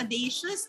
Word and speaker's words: audacious: of course it's correct audacious as rhyming with vicious and so let us